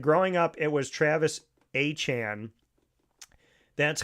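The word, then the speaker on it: Etienne: people who pronounced it ETN, which you know is just like taking the four letters or the three letters E, T, and N and saying it.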